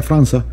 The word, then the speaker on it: França: No se pronuncia Franca, se pronuncia França, porque es en portugués, y la C con el rabito ese se pronuncia como si fuera una C, una Z.